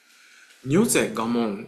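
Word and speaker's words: 如是我聞: Nyoze gamon is how we pronounce it, but nyoze, thus, this way, I heard.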